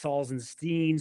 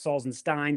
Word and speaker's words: Salzenstein: introduce me they don't get it right it's salzenstein Sal actually that's correct salzenstein salstein and when I played when I